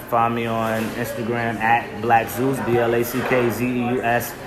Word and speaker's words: BlackZeusx: Also, on top of that, find me on Instagram at BlackZeusx, BlackZeusx. The X is silent. All right, people forget the X. It's silent.